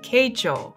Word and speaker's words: Keichō: think I'm pronouncing right the correct way to say it is keicho I would have screwed it